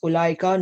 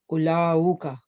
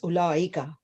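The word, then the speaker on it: أولئك: Note that the waw in ulaika is not pronounced. The word is pronounced ulaika, not ulauka. Correct. It's ulaika.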